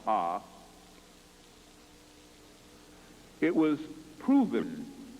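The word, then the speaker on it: Ovist: There was a theory called the Ovis theory, spelled O-V-I-S-T, pronounced Ah.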